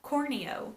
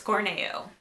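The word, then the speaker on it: Corneo: don't we haven't met yet definitely said Don cornea did anyone else say Don cornea well it's Corning you so I that's kind of like reality setting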